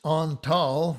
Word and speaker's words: Antal: the next one is antal dorati and this also illustrates the ah versus the ah it's on tall without the accent dorati with the accent